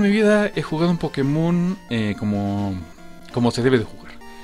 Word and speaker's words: Pokémon: Creo que lo voy a pronunciar Pokémon, ya que tiene el acento en la E.